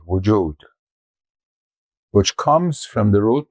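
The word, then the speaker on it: وجود: languages the word for is usually wjud w u j u d wjud which comes from the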